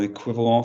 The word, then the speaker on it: équivalent: Pronounce QUI in French. Qui. Ah, say for me equivalent. Équivalent. Lovely. Get the qui out of your head. Yeah? Keep it for words like quim in English.